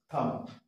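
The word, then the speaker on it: thumb: এম এর পরে তাহলে বম থাম হ্যাঁ বি এর উচ্চারণ আমরা এখানে করবো না হ্যাঁ থাম থাম বি উচ্চারণ করবো না আবার বিফোর টি টি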